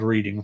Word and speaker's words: Reading: that's right I said r not reading it is spelled reading folks but it is it is pronounced reading